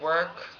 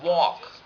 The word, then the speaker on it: walk: Um, and I think that I don't work. No, it's not work. It's walk.